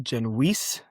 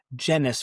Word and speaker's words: Genuis: My understanding is that it's originally pronounced Genuis, rhymes with fleece, but at some point during the time when my dad and his three brothers were growing up in Toronto, the pronunciation sort of migrated to being Genuis, rhymes with tennis.